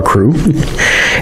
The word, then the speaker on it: Krewe: guess there's a secret society called the Mystic Krewe of Comus which is one of the different cruise they could spell it KR e w e for all these